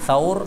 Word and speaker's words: Thaur: Nah, bisa jadi juga ini Thaur, kemudian kita baca Thur nih. Jumrah itu orang Indonesia menyebutnya, dalam hadis jamrah.